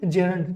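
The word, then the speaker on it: gerund: ठीक है, इसको क्या बोलते हैं? इन्फिनिटिव बोलते हैं या जेरंड या जीरंड भी बोलते हैं। दोनों में कोई फर्क नहीं है, दोनों की बात एक ही है। प्रोनाउंसिएशन का डिफरेंस है, उच्चारण का डिफरेंस है।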